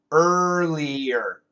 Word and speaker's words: earlier: the perfect class yeah earlier the uh tongue touches nothing the r sound le le early earlier earlier earlier earlier earlier not an